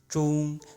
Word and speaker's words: 中: 中, the pronunciation is a little bit like the English name John.